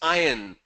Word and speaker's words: iron: It's not Iron Man. It's iron. R is silent. Okay? So it's pronounced as iron.